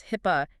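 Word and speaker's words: HIPAA: hip uh security rule hip uh is that pronounced hip yes hip it stands for the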